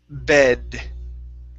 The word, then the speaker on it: bed: Okay, our other one here is the word bed. Okay, give me a good D sound at the end instead of using a Spanish D.